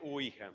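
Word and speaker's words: Ouija: El adverbio si ui ya, pero se pronuncia usualmente uija.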